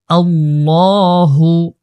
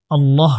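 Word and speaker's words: اللهُ: বিসমিল্লাহি রহমানির রাহিম আল্লাহু হামজা লাম জবর আল লাম খাবর লা এখানে আল্লাহ শব্দটা মোটা করে উচ্চারণ করতে হবে আল্লাহু আল্লাহু পড়তে হবে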